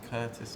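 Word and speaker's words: Kurtis: all let me ask you your name and spell it for me I'm Curtis k u r t i s l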